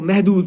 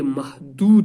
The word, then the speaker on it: محدود: وہ محدود پڑھتے ہیں۔ یاد رکھنا بچوں، اس لفظ کا تلفظ محدود نہیں ہے، میم کے اوپر زبر ہے نا، متحرک حروف جو ہے میم یہ محدود ہے، دال کے اوپر تشدید ہے، اس کو محدود مینز